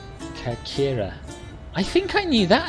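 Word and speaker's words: Κέρκυρα: Athens, Athena are very similar, but Corfu's Greek pronunciation is Kakira.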